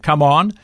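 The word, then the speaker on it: Cảm ơn: Zimlo is excuse me, and come on, CUMON is thank you.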